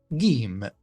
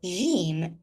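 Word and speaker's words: جيم: In most Arabic-speaking countries, people pronounce this letter as J, J, instead of G, G.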